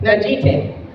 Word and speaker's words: Najite: Najite.